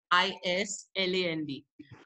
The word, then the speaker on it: island: It's called an island. Keisha, can you write island in the chat box, please? Because it has a weird spelling. The spelling is island. I-S-L-A-N-D. But it's pronounced island.